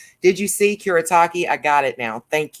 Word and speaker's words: Kuretake: in the comments below so i get that pronunciation did you see kurotaki i got it now thank you um this